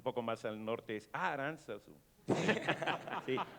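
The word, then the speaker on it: Aránzazu: en Vizcaya dicen Aranzazu, no Aranzazú.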